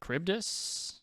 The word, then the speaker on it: Charybdis: How do you pronounce this thing's name? Charybdis.